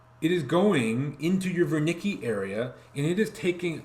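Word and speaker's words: Wernicke: also going to contain ver Nicci area so that's a German name you pronounce the W with a V even though probably 95%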